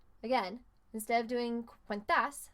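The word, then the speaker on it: has: that's H a s remember in Spanish you don't really say the H maybe if you have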